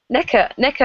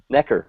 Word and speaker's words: Necker: Necker Island. Necker, yeah. Spell that. Yeah. Like a neck, and then ER. Oh, Necker.